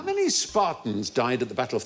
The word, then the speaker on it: Sparta: Because there weren't just Spartans there. Sparta! There were... That is how it's pronounced.